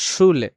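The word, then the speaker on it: Schule: যেমন আমরা যেটা একটা বাক্য দেওয়া আছে এখানে ছুলে। ছুলে মানে হচ্ছে স্কুল। এখানে কিন্তু উটটা জন্য কিন্তু তালব স্বয় সু হইছে এখানে। উ হুস্যুটা হইছে ছুলে।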